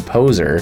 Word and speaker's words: PozeAR: PozeAR, although when they pronounce it in game, it kind of sounds like they're just saying poser, is an interesting, it's augmented reality martial arts training app.